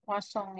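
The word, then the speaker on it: Poisson: keedelapan namanya adalah sebaran bacanya sebaran puosong ya Ini nama orang yang mendefinisikannya orang Prancis jadi kita harus menyebutkan nama sesuai apa adanya ya Jangan dirubah-rubah Kalau dibacanya kosong ya usahakan menyebutkannya seperti itulah Kalian juga tidak mau namanya diplesetin ya juga enggak mau ya mungkin tidak terbiasa dengan bahasa kita kalau disebut Poison nanti artinya beda ya kalau dalam bahasa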